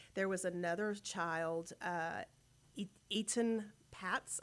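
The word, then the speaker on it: Etan Patz: was another child uh Eaton Pats I believe the correct pronunciation is he was also abducted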